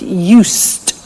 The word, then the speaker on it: used: listen to the pronunciation I said UST with a t sound us not used or used us that's very important to distinguish it from the other verb use okay used the